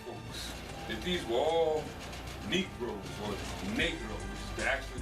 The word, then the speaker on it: negro: that these were all Negroes or negro which is actually the correct way to pronounce it it's the Spanish word negro you ain't going to